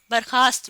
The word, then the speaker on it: برخاست: تو وہ لفظ کچھ یوں بن جاتا ہے، واو کا اضافہ کر دیتے ہیں وہ درخواست کی طرح برخاست میں بھی، تو برخاست میں واو نہیں آتا۔ صحیح تلفظ یہ جس کے نیچے میں